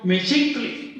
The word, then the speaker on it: Mexictli: No puedes pronunciar ambas. Se mantiene la dominante, que en este caso es SH. Por lo tanto, en la pronunciación Mexictli ya tienes implícito Mestli, Xictli.